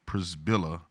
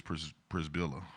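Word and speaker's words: Przybyla: Heidi Przybilla, and it's spelled P-R-Z-Y-B-Y-L-A, Przybilla. I hope y'all ain't playing with me. I hope it's Przybilla, or is that Z silent?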